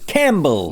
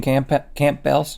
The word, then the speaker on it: Campbell's: Do you pronounce the P in Campbell's? No, that would be stupid. I would think that I had Campbell's soup there.